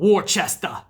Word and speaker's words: Worcester: Or as they call it, Worcester over there. But it's pronounced Worcester, Mass.